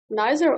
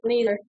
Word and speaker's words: neither: correctly we can spell neither or neither?